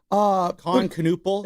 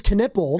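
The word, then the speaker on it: Knueppel: Knuppel? I think it's Knippel. Knippel? Yes. Oh, so we get that pronunciation. No, it is right. It's Knippel.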